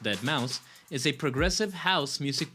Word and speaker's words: deadmau5: Mouse Joe Thomas Zimmerman aka deadmau5 pronounced that Mouse is a progressive house